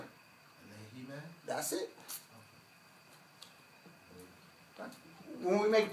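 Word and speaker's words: عليه: So how do you pronounce the human? Change it to a kesra. Alayhi.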